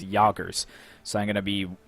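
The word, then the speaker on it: Jägers: So I've been pronouncing them Jaegers, but after a bit of research, I've found out that I think the proper pronunciation is Jagers.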